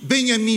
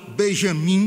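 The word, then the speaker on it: Benjamin: exilado nos Estados Unidos, Benhaim Mendelson, ou numa pronúncia portuguesada Benjamim, Benjamim Nendelson.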